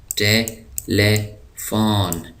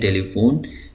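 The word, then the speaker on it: telephone: Courage کہتے ہیں حوصلہ۔ ٹیلیفون، ٹیلیفون ٹیلیفون ہم اس کو اردو میں کہتے ہیں ٹیلی فون، لیکن انگلش میں اس کا صحیح تلفظ ہے ٹیلیفون۔ تو ٹیلیفون، ٹیلیفون۔ اسپیڈ،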